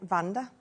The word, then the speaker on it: Wanda: I mean, I've got a friend called Vanda. It's supposed to be Wanda, isn't it? Oh, but she pronounces it Vanda.